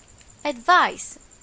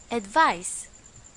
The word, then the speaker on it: advice: and its pronunciation is advice remember it's an S advice the second one is